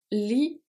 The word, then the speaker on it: lit: Lis un livre. Lis un livre. Le T is silent and E at livre silent as well.